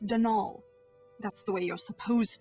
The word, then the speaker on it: Donal: that was the caretaker Donal Delaney not Donald my mind you there's no D at the end so it's pronounced denol that's the way you're